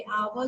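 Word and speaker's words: hour: हवर नहीं बोलते। हाँ जी, हावर नहीं बोलते हैं हम, आर बोलते हैं। आवर बोलते हैं।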